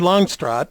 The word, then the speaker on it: Longstreet: to have you here on the program karen longstroth and i use that pronunciation because her family and her husband's family